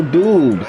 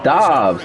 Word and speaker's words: Dobbs: Completed out left to Dobbs. Oh, his name is Dobbs. And they'll work it inside the 15-yard line before it's all His name not even Romeo Dubes. It's Dobbs.